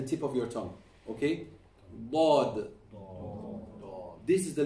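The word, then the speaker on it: ض: Not Dhaad. Don't ever touch your front teeth when you pronounce the Dhaad.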